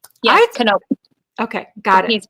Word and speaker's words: Knop: Okay, I want to pronounce, I always just call you Malerie. You're Malerie McCormick Knopf? Knope.